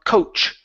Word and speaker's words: coach: CH sound here on Coach okay so instead of saying coach okay with an sh it's a CH sound coach coach coach coach okay